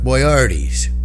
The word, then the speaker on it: Boyardee: Well, those were delicious Chef Boyardee's. People like to pronounce it and put the emphasis on the wrong syllable. I say Chef Boyardee.